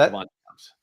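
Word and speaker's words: Davante Adams: It's pronounced Devante Adams.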